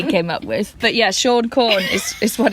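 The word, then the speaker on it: Siôn Corn: Father Christmas in Welsh is Sean Corn. Maybe you can roll your R. Sean Corn. Well, Sean Corn, really, you roll your R.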